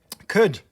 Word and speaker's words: could: is the silent letter could the l is silent and tomb the b